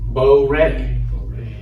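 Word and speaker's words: בּוֹרֵא: It's how Bo likes his steak, rare. Bo rare. Bo re.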